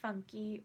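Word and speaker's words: Funke: love Inkheart by cornelia funky or funk I pronounce it funky cuz it ends with an E and I know she's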